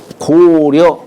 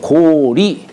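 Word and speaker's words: 高麗: 우리가 왜 어 고려 고구려 할 때 리어라고 읽죠. 어,요 글자를 읽는데 사실은 리어라고 읽어서는 안 되고 리라고 읽어야 돼요. 고리 고구리 이렇게.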